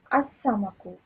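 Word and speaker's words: السمك: Al-Samaku. Al-Samaku becomes As-Samaku. Okay, so no.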